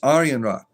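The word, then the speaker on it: Arianrhod: And this goddess here, if you did not know, is Arianra. Uh I'm probably saying her name wrong.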